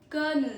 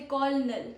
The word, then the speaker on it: colonel: Don't say colonel. Say colonel. Colonel. Meaning is a military officer. A military officer is known as a colonel. Okay. One pro tip is spelled COL but sounds like K.